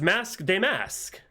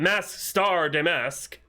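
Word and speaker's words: Masque DeMasque: It's mask de mask. It's not mask star de mask. Truth is, I've been mask de mask all along. And it's French.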